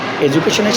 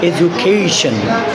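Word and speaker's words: education: একটা rule number 1, যদি কোনো ওয়ার্ড TION অর্থাৎ শন দ্বারা শেষ হয় তাহলে এর পূর্বের সিলেবলে আমরা জোর দেব। ফর এক্সাম্পল, আমরা যদি বলি এডুকেশন, তাহলে আমরা এডুকেশনের শেষে TION আছে, তার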